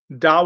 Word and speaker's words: Dao: Non theistic religions would be Buddhism, probably specifically Theravada Buddhism, also Confucianism, Dao or Taoism. They're both obviously the same, spelled with a D or a T, the Ethical Culture Society, Jainism, and the Unitarian Universalist Association.